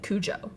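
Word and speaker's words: Cujo: h um but uh Patty pronounces it Kujo uh and then Angela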